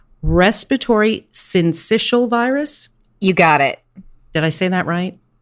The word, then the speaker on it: syncytial: is, help me with this because I always mispronounce it, but it's respiratory syncytial virus.